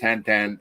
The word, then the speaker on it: Tintin: It's pronounced Tintin.